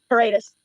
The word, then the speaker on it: Paredes: Am I pronouncing that right? Corridos? No, How do you pronounce it? Paredes.